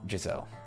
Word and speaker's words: Jazelle: God that is crazy how do you pronounce it though zelle I assume only makes sense only